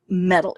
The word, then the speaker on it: Mettle: what are your influences one would think the word Emmy TT le it's spelled kind of European like the metal like and your metalheads